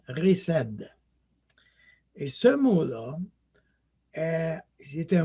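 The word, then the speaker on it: חסד: associé avec cette idée et l'amour c'est l'amour riced je sais c'est écrit h est-ce à dire mais à ça se prononce riced et ce monde c'est un moine hébreu qui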